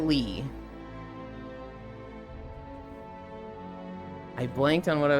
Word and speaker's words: Leigh: How can you keep saying it le cuz you put L E I G H. That's lei like sleigh. People don't pronounce that. Lee.